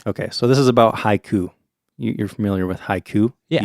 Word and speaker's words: haiku: Haiku, 2 syllables, right? Yep. In Japanese, they don't quite think of syllables as much as they do of those sounds that we're talking about. So haiku would be divided into 3 sounds, ha, I, and ku.